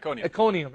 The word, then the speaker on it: Iconium: And they shook off the dust from their feet against them and went to Iconium. Is that how you pronounce it? Iconium, yeah.